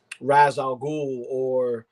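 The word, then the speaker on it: Ra's al Ghul: even going into like criminals criminals like or raz al ghul because that's the proper way to say it's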